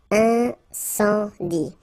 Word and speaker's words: incendie: And then you get the nasal. Incendie.